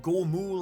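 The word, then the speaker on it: ゴム: Luffy's iconic number being 56 because it's pronounced Gomu like the Gomu Gomu no Mi.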